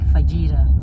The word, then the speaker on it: fajita: We had fajitas, spelled like fajita, but it's fajita. That's how you pronounce it.